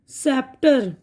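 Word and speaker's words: sceptre: अब यहां पे देखिए सी की आवाज साइलेंट है यह है सेप्टर साय शही सीजर्स कैची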